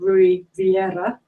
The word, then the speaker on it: Rui Vieira: And then to Emma's right, we've got Rui Vieira. I pronounced that right?